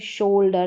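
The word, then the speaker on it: shoulder: तो यहाँ पर ओ यू का उच्चारण ओ करके हो रहा है, जैसे शोल्डर, ना तो आउ हो रहा है ना यहाँ पर ऊ हो रहा है या लॉन्ग वाला ऊ हो रहा है, ठीक है, यहाँ पर हो रहा है ओ करके, शोल्डर, मोल्ड, और ये है फ्लोर,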